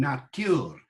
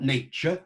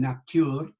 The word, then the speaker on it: nature: So, pricketh hem natuur, not nature, there's that ch sound again, you see, doesn't happen in those days, that it can hem natuur, in here courages, than